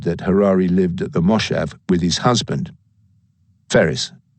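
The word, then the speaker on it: moshav: it mean Harare m-o-s-h-a-v oh that's actually a mistake on Wikipedia it's a moshev it's somehow got around that I live on a moshev which is some kind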